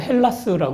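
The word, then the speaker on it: Ἑλλάς: 그래서 제가 비워 그 희랍 사람들은요 자기네 나라를 헬라스 불러요 혹은 h 발음이 약해지고 좀 다른 형태를 써서 엘라다 부르기도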